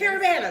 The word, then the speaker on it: Caribana: Whatever it is. Caribana, that's how you say it.